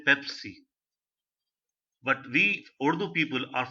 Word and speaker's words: Pepsi: you the English language, he will say Bebsi, Bebsi. But very few who graduated from America or other countries who took an English language course, they are able to pronounce it very correctly, say Pepsi.